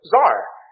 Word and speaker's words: Tsar: you had a man whose title was Tsar, as we pronounce it in English, spelled out generally C-Z-A-R or T-S-A-R, most commonly C-Z-A-R, which if you look at, you think that looks like Caesar.